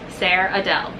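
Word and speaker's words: Ser'Adel: S-E-R apostrophe A-D-E-L. Sarah Adele. Well, that's Sarah Adele. if you want to say it wrong, you can say it wrong, but you're gonna say it wrong the whole time.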